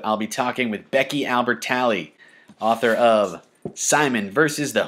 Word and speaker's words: Albertalli: Is it Albertalli or Albertalli? So I say Albertalli because I think that's easier to say.